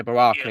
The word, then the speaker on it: Baraka: Yeah, Baraka, yeah.